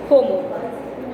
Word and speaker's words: hormone: The correct pronunciation is hormone.